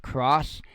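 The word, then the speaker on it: XROS: Vesso cross pods, and it's spelled X R O S, but uh, as far as I know, it's actually pronounced cross, and that's kind of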